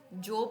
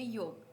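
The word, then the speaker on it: Job: पढ़ेंगे नेक्स्ट है डियर यब जोब नहीं इसको बोलेंगे योग ठीक है नेक्स्ट हमारे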